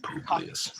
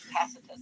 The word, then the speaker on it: Tacitus: Tacitus in Latin, Tacitus as he's pronounced in English.